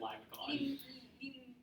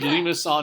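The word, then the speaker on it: limaçon: hey mr hedge from definitely said limeacon stupid american yeah french french people everywhere cringe every time that happens well french people didn't include math we did it no they they created the reason it's named limasson is because it was created by someone who is french all right so let's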